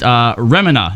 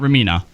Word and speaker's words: Remina: Ramina is pronounced Remina, not Ramina.